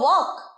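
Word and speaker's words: work: বলো আমার সাথে এবার, have you finished your ওয়ার্ক। আমি আগেই বলেছি ওয়ার্কে কিন্তু রটা উচ্চারণ হয় না স্পষ্ট করে, ওয়ার্ক।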